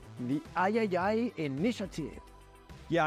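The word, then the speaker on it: iii: partnering with called the Ayayay Initiative. Yeah, I'm pretty sure it's pronounced Triple I. You know, like AAA, but with I for indie.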